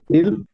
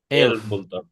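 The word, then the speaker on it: elf: peer উন Jack জিভেন আট নয়েন সেন ইল এল এল না এল এটা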